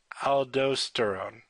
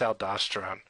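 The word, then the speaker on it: aldosterone: The primary mineral of coticoid is um aldoststerone. Um, so al I mispronounced that. I think it's aldoststerone though again don't quote me.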